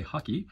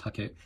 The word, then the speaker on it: hake: tip into the paint hake is a Japanese word and I've heard some people say haki which is a lot closer than he which I've also heard but it's pronounced hake the very first layer